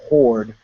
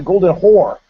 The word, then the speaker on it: Horde: She had this guy from this band, the Golden Horde, who I mispronounced. He says, "My band's the Golden Horde." I go, "Oh, the Golden Hore." And and they're like, "No, horde."